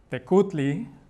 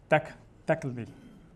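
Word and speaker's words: Tecuhtli: why you get certain words like Tecutli, which means Lord in Nahuatl, but is actually pronounced Tecli, or Tecli. So that's based on certain dialects of Nahuatl.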